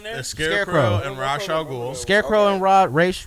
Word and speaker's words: Ra's al Ghul: You saying it right? He's like, Man. I'm Ra's an. al Ghul. I'm Is it an- Race though? Because my niggas say Race in the movies. You can say it either way.